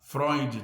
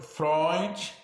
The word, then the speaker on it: Freud: que fala em eu vou falar froid tá bom se for frio de vocês vocês que sabe tá mas eu eu vou a minha pronúncia é essa tá bom segundo o pessoal foi Freud Freud né não sei